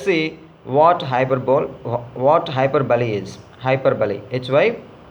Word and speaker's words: hyperbole: Hyperbole, hyperbole. The pronunciation of this word is hyperbole.